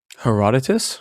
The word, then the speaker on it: Herodotus: So the legend of Cyrus we mostly refer to her I don't know how to pronounce his name. Herodotus. Herodotus thank you.